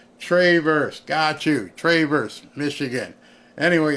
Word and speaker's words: Traverse: they pronounce the city it's not Traverse it's Travers tra Travers Michigan I